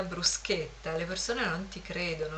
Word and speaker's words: bruschetta: dovete essere esperti di bruschetta che qui si pronuncia bruscetta e la gente non ci crede quando gli dite che si pronuncia in realtà bruschetta le persone non ti